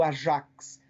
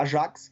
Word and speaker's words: Ajax: O Tottenham fez isso com o judaísmo e, sobretudo, quem fez isso foi o time do Ajax, né, que seria a pronúncia correta, mas a gente aqui no Brasil fala Ajax, que é um grande